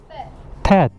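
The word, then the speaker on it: Theth: Thet.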